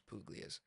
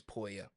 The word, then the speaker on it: Puglia: Yeah, the whole it's Poya. Everyone says Puglias though, so I just refer to it as Puglias. What is it Um, actually? it's Poya. Poya.